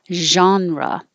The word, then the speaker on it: genre: around date around date this looks like a g but sounds like a um it's from french so we keep that part of it genre if you sound like